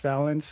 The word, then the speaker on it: Valence: I had the pleasure of being Valence is how I say his name, on his team last season in Thunderbirds.